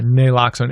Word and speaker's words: Naloxone: Yeah, Naloxone.